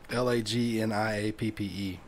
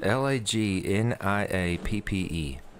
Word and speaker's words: lagniappe: Lagniappe. I can It's make- actually pronounced how you would not think. It's just like a 2-syllable word, just spelled weird.